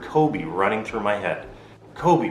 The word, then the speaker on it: Kobe: running through my head Kobe with the long o sound and the extended EE sound at the end Kobe fans know what